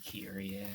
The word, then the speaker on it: Kyrie: Actually, he said Kyria because that's how they say her name in this game, but that's not how it's spelled, so I don't say it that way.